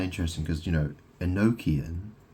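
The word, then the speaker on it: gnocchi: Or it's like an Italian food and it's called Noki. It's spelled like G N O C H I or something.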